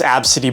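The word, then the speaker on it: Abcde: It's pronounced Absidy, by the way.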